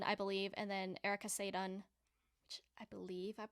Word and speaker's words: Sadun: So the first season was Sean Allen, I believe, and then Erica Sadun, which I believe I'm pronouncing her name correctly. mhm, Um, yeah, it's Erica Sadun, and then now it's me as the third like season's co-host.